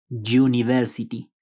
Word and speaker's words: university: ejemplo podemos ver que el sustantivo Inicia textualmente con una vocal pero sin embargo el sonido es consonántico The University como pueden escuchar el sonido es como una y University entonces prima el sonido